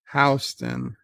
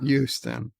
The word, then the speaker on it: Houston Street: How do you pronounce Houston Street? Houston, that's it. It's not Houston.